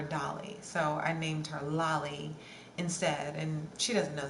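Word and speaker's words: Lali: Yes, Lolly and Lola, dynamic duo, exactly. Exactly. Her name is spelled L-A-L-I, like Dali, like Salvador Dali, the painter. But yeah, that's her name, Lolly.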